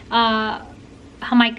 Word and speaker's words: jamaica: Jamaica is how you say it in Spanish, and that's how I learned about it.